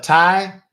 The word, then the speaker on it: Ty: for me I'm sorry it's a Tai that's Ty like Thomas Yankee and then my last